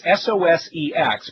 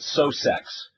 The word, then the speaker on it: SOSEX: is uh called uh the official name according to Steve Johnson the guy who wrote it is sosex but I like to pronounce it Sox because I just like